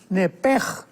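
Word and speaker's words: נֶפֶשׁ: porque es la palabra nepesh con sh al final. Neph. En el hebreo se pronuncia eh la sh con j. Entonces, la pronunciación hebrea es nepej.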